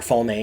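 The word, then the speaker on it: Falme: people at foam uh fall may or foam however you want to pronounce it uh give the the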